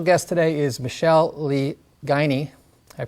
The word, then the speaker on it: Guiney: And then our special guest today is Michelle Lee Guiney. Did I pronounce that correctly?